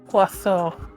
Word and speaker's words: oiseau: It is French for bird, so it's oiseau. Oiseau.